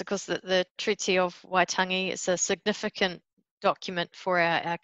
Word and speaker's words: Waitangi: The signing of the Treaty of Waitangi, is that how it's pronounced? Waitangi, yes. Waitangi.